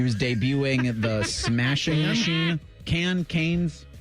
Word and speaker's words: Cannes: Cannes. You pronounce everything right. You're right. Always. It wouldn't be Canes because that's chicken fingers.